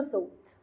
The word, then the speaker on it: thought: طب كلمة يعتقد أو يفكر معناها think، والباست thought والGH ما بتتنطقش، والPP برضو thought.